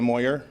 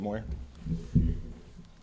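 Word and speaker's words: Moir: Shortly, we'll have our Tempe Police Department Police Chief, Sylvia Moyer. Her first name is spelled S-Y-L-V-I-A, last name Moyer, M-O-I-R.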